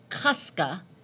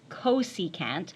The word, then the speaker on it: cosecant: Certainly don't say kuska. Please don't pronounce it to me.